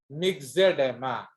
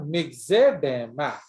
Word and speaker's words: myxedema: Excess thyroxine माइक्सोडेमा or नहीं baby, मिक्सेडेमा। इट is called mix. Biology में OE is pronounced as E. ई That is called myxedema.